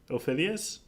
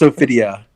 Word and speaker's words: Ophidia: Did you know Ophidia ends with an A? Ophidius? It's Ophidia. Ophidia.